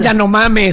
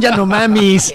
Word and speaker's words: Yanomami: No son Yanomame, son Yanomamis. Los Yanomamis del Amazonas.